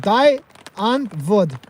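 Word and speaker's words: Die Antwoord: ring trips is okay D antwood is pronounced d an VOD okay man all right we're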